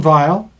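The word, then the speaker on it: Weil: In fact, in the resistance, there was a a woman, her name was Simone Vile. It's spelled with a W, but it's with a V.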